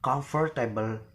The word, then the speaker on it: comfortable: affixes do not affect the stress pattern is comfortable and wonderful. So it means that the affixes able and full, there will not be given any stress, but the stress is in the first syllable or in the stem, or yes, such comfortable. So the word stress is given in the word comfort, not able.